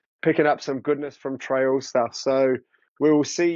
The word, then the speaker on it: Traill: Yeah, it's actually my name's actually meant to be pronounced Traill, and it's my great grandfather's name, I think.